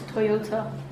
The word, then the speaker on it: Toyota: Toyota.